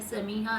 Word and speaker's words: समीहा: समीहा उनका नाम अमूमन समिया प्रोनाउंस किया जाता है, जो कि उन्होंने कहा है कि गलत है। उनका सही नाम है समीहा ।